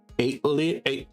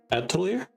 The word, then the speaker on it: Atelier: Witch Hat Atelier? Atelier? I think that's actually how you say it. I always want to say Atelier.